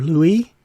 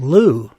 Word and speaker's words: Looe: Shouldn't the name be pronounced Lua or Louis? No way it could be called Looe, for reasons that should seem obvious, but it turns out that's exactly how it's pronounced.